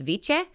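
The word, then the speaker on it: Wicca: Um the Norse word was viche like how they write wikah would have been pronounced viche.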